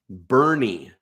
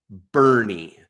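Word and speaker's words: Boerne: It's really easy to pronounce Pflugerville. There are towns like Bernie. I dare anyone from Texas, not from Texas, to spell the town Bernie. You got it wrong. It's B-O-E-R-N-E, Bernie.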